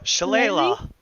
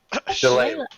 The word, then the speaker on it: shillelagh: I'm going to cast Schillaci or whatever that I can't even pronounce that spell shillelagh shillelagh yes Leila it's Irish yes I'm gonna cast